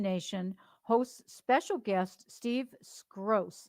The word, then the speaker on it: Skroce: Simulation Nation hosts special guest Steve Skroce. Is that I pronounced that right? Yep, you did beautiful. Okay, Skroce.